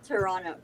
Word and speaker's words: Toronto: right you're Toronto yes it's so funny when Americans say toron Toronto because they say it with a t yeah Toronto yeah because it's it's you say it like Toronto Toronto T it's like one word or one one syllable Toronto ton ton well yeah